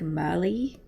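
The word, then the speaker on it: Merlyn: to comfort him so her name is spelt m-e-r-l-y-n and when he says it it sounds like mali with his little accent he's adorable um but with my accent it sounds like merlin or merlin which is like the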